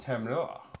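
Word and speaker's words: تمر: Or in an Arabic, tamar, pronounced tamar.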